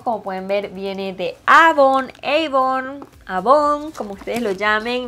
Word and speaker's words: Avon: Nosotros en Venezuela le decimos Avon. Sé que en México le dicen Avon. Y sé que en Estados Unidos se le dice Avon porque así se pronuncia en inglés.